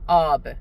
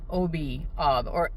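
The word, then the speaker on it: آب: How do you say water in daddy? Ob. Okay, that's the correct formal way of saying water. OB.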